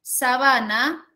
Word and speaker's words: sabana: en la tercera sílaba y sabana donde la mayor fuerza de voz rica en la segunda sílaba son dos palabras que